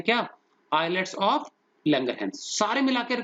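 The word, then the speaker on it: islet: जो beta cells होते हैं बच्चों, इनका एक और नाम भी है आइलेट ऑफ लैंगरहैंस। इज नहीं बोलेंगे इसको, ऐसे साइलेंट है, आइलेट, जैसे आइलैंड होता है ना, ऐसी आइलेट्स ऑफ लैंगरहैंस, पर्सन का नाम है लैंगरहैंस।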